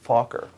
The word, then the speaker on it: Fokker: aircraft designer named Anthony Fokker it's f o k k ER so if you speak English get the giggling out of your way right now that's his name I am pronouncing it correctly and this plane was